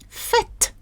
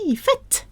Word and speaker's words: fête: Fête. Fête. Spit out the T. Fête.